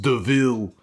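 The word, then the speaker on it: De Vil: the baroness saying it spelled devil but pronounced deville and i was just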